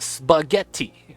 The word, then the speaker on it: spaghetti: It's pronounced spaghetti, which is 2 T's.